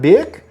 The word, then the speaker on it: Birk: We got Birk, who says it's pronounced Burke. It's not pronounced Burke. It's pronounced Birk. Birk.